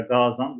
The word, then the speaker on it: Gazan: 699 senesinde Tatar Hanı Mahmud Gazan veya Gazan uzun okunuyor tabii. Orijinalde o şekilde.